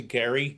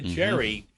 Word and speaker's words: Gerry: point to talk about the mistake in the pronunciation of the word gerrymander that Elbridge was a Gary not a Jerry and that uh American folklore and usage has simply changed it somehow to Jerry.